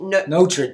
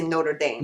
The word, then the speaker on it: Notre Dame: it because people here people here would say not notame notra Dame and we say Notre Dame we say it right see now and you